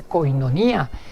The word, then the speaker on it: koinonía: comparamos con una palabra griega que se dice koinonía que se llama koinonía que se pronuncia koinonía es una palabra griega y junto a esa